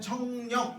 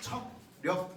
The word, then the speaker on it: 척력: 근데 발음할 때는 청력 이렇게 상관없어요. 네. 우리가 듣는 힘 청력이잖아. 그렇죠? 그거랑 발음은 똑같아도 되는데 쓸 때는 척력 이렇게 씁니다.